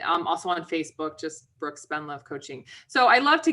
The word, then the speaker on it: Spendlove: My last name is exactly like it sounds, but people think it's spelled more complicated. Spend love. So instead of spend money, spend love.